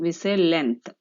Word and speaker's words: length: pronounce this word children we say length so here the letter g is silent we say length so the letter g is silent when the word length is spoken the g sound is